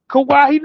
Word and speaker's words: Kawhi: Am I saying it right? Kawhi. It's just Kawhi.